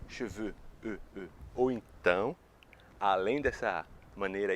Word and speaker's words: cheveux: Então, cheveux, veux. Então, com essas associações do avô no cavalo e com cabelo que eu quero, você nunca mais vai errar a pronúncia, a diferenciação entre cabelos, cheveux, e cavalos, chevaux.